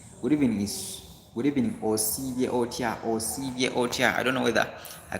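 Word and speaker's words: Osibye otya: It is O-S-I then B-Y-E. Osivye Otia. Good evening. Osivye Otia Nyabo. Osivye Otia Sebo. Are we together? So that is how you say good evening.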